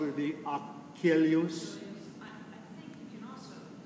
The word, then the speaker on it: Achilles: Would you say, we say typically Achilles, would you say the way he spelled it would be Achilles? I think you can also use some standard pronunciations. I think everyone recognizes Right. Achilles.